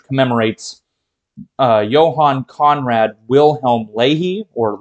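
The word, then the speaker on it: Löhe: uh Johan Conrad Wilhelm Ley or Leia I've heard that name pronounced a number of different ways I'll be pronouncing it Ley I think that's the way one of my professors pronounced it but he was a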